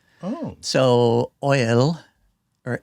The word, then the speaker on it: Eull: So, Oil or L. Oil or L is like the German pronunciation.